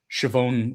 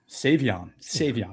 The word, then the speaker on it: Savion: I'm going to botch it, but Shavon Williams. Is that right? Savion.